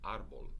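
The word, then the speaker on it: árbol: elle an l so its natural accent should be on the last syllable but it's not it's pronounced arbol not and so as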